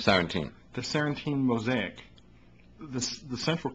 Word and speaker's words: Sarantium: This is book one of the Sarantine. Is that how you pronounce it? Sarantium.